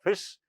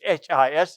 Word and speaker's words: His: called as angle of fist. The spelling is h i s but it's not pronounced as his.